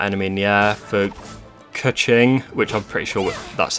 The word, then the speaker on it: Keqing: For Keqing, which I'm pretty sure that's how you pronounce this character's name, she does like sort of a disappearing, strong, flinging attack.